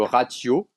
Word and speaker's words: ratiô: Ah non, la prononciation d'un mot parlant, il est le ratio, ah oui, yo final, et demi à tôt,